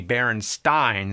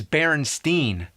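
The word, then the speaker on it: Berenstain: e not an a actually the most likely pronunciation would be baron Stein since it was spelled the same way like Frankenstein but everybody I ever met says Berenstein I don't give a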